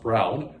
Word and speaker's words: Braun: It was historically played by Mennonite men from the Braun, pronounced Brown, clan, often in costume while performing for dessert and beer.